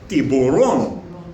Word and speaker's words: Tiburon: In Spanish, a lot of words end with an accent on the end.